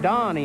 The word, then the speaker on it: Donnie: year ago I know he kept calling me Danny I had to keep working on him how to pronounce the first name Donnie instead see you need to